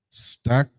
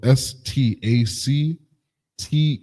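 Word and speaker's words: stacte: And the Lord said unto Moses, take unto thee sweet spices stacked strik stact and on uh sloaki. It's spelled s t a c t e.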